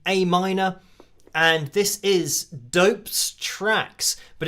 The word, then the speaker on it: Dopez: And this is Dope's Tracks, but it's spelled D-O-P-E-Z, so like Dopez, but Dope's Tracks.